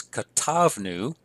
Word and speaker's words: katavnu: Note again, we have an accent on the second to last syllable, so it's katavnu et hamitzvot la'am.